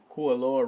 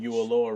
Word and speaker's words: Kualoa: Kualoa? Kualoa Ranch. Kualoa Or Ranch. Ualoa Ranch. Something No, like no, it's a K. Kualoa.